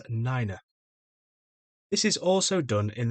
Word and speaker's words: nine: And nine pronounced as niner.